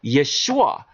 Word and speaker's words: Yeshua: So Jesus right here is referring to Joshua, or Yeshua, which would be the proper pronunciation, right?